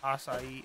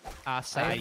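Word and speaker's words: açaí: It's probably the longest syllabled word with the least amount of letters. Acai. Oh my god, yeah. Acai. Three syllables, four letters.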